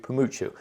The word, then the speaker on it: Pamuchu: No, then I asked her, and she said Pamuchu, like Pikachu. Like Pikachu, Pamuchu.